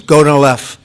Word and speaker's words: Gonal-F: all, the IVF drug Gonal-F. So it's Gonal-F. Is that a proper pronunciation? Very Close well enough, done. right? Very well done.